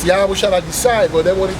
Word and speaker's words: Yahawashi: It's not Yahweh? Huh? Yahweh? The name of our father is Yahawashi. Yahweh. So we're just pronouncing it wrong. Because of the Greek influence.